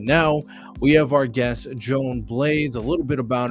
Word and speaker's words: Joan: values so without further ado let's bring in Joanne how's it going it's going good good to be here no problem no problem is it uh Joanne or Joan how do I pronounce it Joan